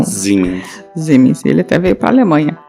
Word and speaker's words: Siemens: A Aisha também mandou que ela queria saber sobre o escândalo da Siemens, porque o marido dela trabalha na Siemens, como se fala em alemão. Siemens.